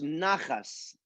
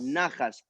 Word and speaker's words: nachas: Okay, Nachas. nachas. So Okay. again, you have the it's NACHAS. The Uh-huh. CH is pronounced like you said, Julio, Yes. as if you have something stuck in your throat.